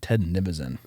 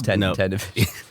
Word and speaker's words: Ted Nivison: I've always pronounced it Ted Nivison. No, it's Ted Navision.